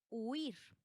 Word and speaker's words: huir: La sílaba tónica recae en la i. Pero, ¿qué sucede? Están formando una sola sílaba. ¿Qué sucede con la palabra huir? pues que es un monosílabo, entonces no lleva tilde y ya se queda así. huir.